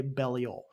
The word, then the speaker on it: Belial: or belial i say belial because i think like how you're supposed to say it's a hebrew name and i think that's how you're supposed to say it in hebrew yeah i go by